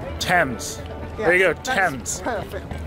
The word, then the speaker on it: Thames: Yes, there you go, Thames. Perfect. I keep saying Thames or whatever, but Thames. River Thames, guys.